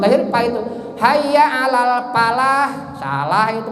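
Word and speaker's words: فلاح: Hayya alal falah. Bukan hayya alal falahnya. Kalau hayya alal falah itu salah bacanya.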